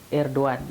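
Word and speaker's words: Erdoğan: Jadi cara membacanya memang G itu tidak terbaca, Erdogan gitu ya, itu cara pembacaan yang benar.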